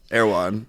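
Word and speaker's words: Erewhon: party um okay wait how do you say that word e r e w h o n wait sorry one more time oh airan yeah airan what do you say apparently I say it wrong air I say airan like one like the number one but it's like aan is it nowhere backwards is that like the that's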